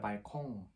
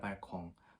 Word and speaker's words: Balkon: 얘는 일단 남성 명사고 발코니 아니라 der Balkon 이렇게 발음을 많이 합니다. der Balkon, 복수는 balkone 이렇게 되죠.